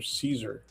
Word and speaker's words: Cesar: And uh they had actually the family pronounced his name Caesar.